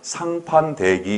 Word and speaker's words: 상판대기: 발음은 이 상도 쌍으로 나오고 다음에 대도 때로 나오지만 쓸 때는 다 예사소리로 기록을 합니다. 상과 대. 그래서 읽을 때 되도록이면 상판대기 이렇게 있는 대로 읽는 게 좋아요.